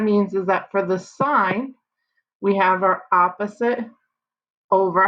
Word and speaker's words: sine: sine cosine and tangent the abbreviation is sin cos and tan but we don't ever say it like that we say the sine of theta the cosine of theta